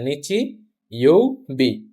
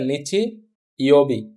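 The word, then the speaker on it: 日曜日: নিচু সঠিক বানান কোনটা প্রথম অপশন আছে নিচি ইওবি। নিচি ইওবি ই শেষ আবার একটা ই আছে ই তো কখনো থাকে না শেষ হয় জাস্ট বি নিচি ই বি এই কাঞজিটার নাম হচ্ছে নিচি আর এইটুকের নাম হচছে ইউ ইউ আর হচ্ছে বি তাহলে সঠিক বানান হবে কোনটা নিচি ইউবি আপনি যদি আগে থেকেই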